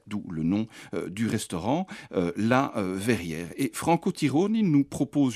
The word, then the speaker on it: La Verr'Hier: au crâne brillant et nous partons au restaurant La Verrière alors attention verrière s'écrit V e r r apostrophe puis h